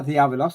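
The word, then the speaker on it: διάβολος: It's clear beyond any possible doubt that the devil, or diabolos, and I'm using the modern Greek pronunciation, in Matthew 4, is introduced to us as the one and only one well-known Satan.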